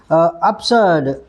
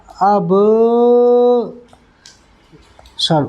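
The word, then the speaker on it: absurd: अच्छा नेक्स्ट जो वर्ड है वो है ठीक है ना अप्सर्ड ए बी एस यू आर डी ठीक है ए बी एस यू आर डी अप्सर्ड क्या पढ़ा अब सर्ड उच्चारण पक्का आना चाहिए अब्सर्ड मत पढ़ना अब्सर्ड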